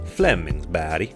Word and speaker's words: Flemingsberg: Now, I spent 2 months playing for a team in the Stockholm area called Flemingsberg, or as the Swedes pronounce it, Flemingsberg, and that would be to Stockholm what Richmond is to Vancouver.